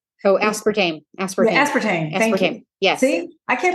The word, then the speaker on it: aspartame: also um has um what is it called aspartime so aspartame aspartame yes see I can't pronounce these it's okay that's what I'm here